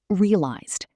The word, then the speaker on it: realized: Which ending does it have? If you said D, you're correct. Realized. In rapid speech, realized.